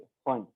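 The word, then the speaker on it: Pfund: Last series फंड series, P silent है फंड।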